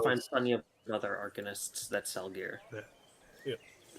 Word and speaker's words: arcanist: plenty of other arcanists that sell gear. Yeah. Yeah. Still doesn't sound right, even when you say it. It's pronounced arcanist.